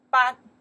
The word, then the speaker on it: 班: It's not 课 This one we pronounce the 班 The meaning is still class. 班班 still class. And 课 and 班 very different. 班 prefer for the team.